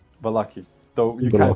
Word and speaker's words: Vallaki: Valaki. Yeah. Is it or bali? Valaki.